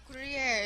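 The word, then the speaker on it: Gruyère: video right now refer to somewhat your mom gruyere is how it's pronounced spanish was my first language so i'm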